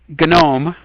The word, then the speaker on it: GNOME: are the three um gnome with a hard g is one of the